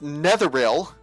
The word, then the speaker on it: Netheril: I didn't say My Hey, I said Neil. And she goes, "No, it's Netheril."